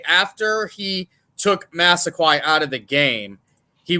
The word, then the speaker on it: Massaquoi: say it right blah yeah I know it's Massaquoi what's his first name Muhammad Muhammed so let